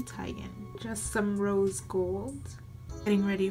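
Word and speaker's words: Teigen: pronounce her last name I've been pronouncing it wrong this whole time I've always said it Tegan but it's actually Titan just some rose-gold getting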